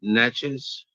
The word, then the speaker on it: Natchez: It's Natchez.